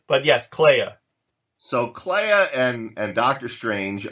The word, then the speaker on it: Clea: Was it pronounced Clea or Clay? Oh, I've always pronounced it Clea.